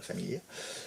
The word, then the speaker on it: Famiglia: ça s'écrit Famiglia, mais il faut dire la Famiglia.